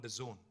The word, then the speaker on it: DAZN: and exciting company called The Zone this is pronounced the Zone but it's spelled dazn now the zone is